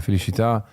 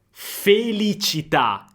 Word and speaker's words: felicità: la felicità, la felicità, l'accento di Bocelli è toscano e quindi il suono della C è un po' particolare, infatti non dice propriamente felicità, cità città, ma la c diventa un po' una shelicità.